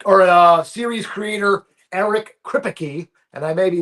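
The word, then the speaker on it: Kripke: Crypt key is how you pronounce that. He's like the crypt keeper. He's crypt key.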